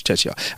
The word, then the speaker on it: Czechia: No, it's Czechia.